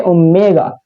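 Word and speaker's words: ω: यहां पर w मत कहना यहां उसको ओमेगा ओमेगा इसको प्रोनाउंस करेंगे ओमेगा ओके ओमेगा² + 1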